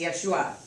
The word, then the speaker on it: Yeshua: So, what was interesting about my revelation in this was Catholicism brought me to, of course, their interpretation of Yeshua. And it is Yeshua.